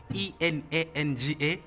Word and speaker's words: enanga: Because I have an issue with pronunciations when it comes to instrumentals. What is that called? So ENANGA, enanga.